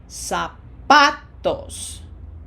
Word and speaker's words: zapatos: incapaz incapaz P E 2 Remember, no Z sound in Spanish, just like an S. zapatos zapatos We've seen this one before.